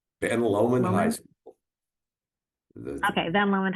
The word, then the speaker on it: Lomond: Lomond? Ben Lomond High School.